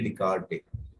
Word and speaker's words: Descartes: was a mathematician Rene Descartes right but actually this we pronounce as Rene descarte but the spelling is something like Rene descarte foreign right so because